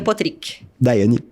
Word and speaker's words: Potrich: Certinho é Potrich.